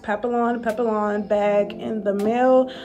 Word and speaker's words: Papillon: just received a Louis Vuitton I think it's pronounced Papillon Papillon back in the mail um I ordered